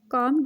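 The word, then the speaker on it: calm: पुर सुकून हो जाओ कम डन कम डॉन इसमें एल साइलेंट हो जाएगा तो इसको हम पढ़ेंगे काम काम डान इसको संभालो हैंडल दिस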